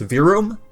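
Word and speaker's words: Verum Rex: the middle work on vroom rex which the developer confirmed that you pronounced virum not virum or kh4 he was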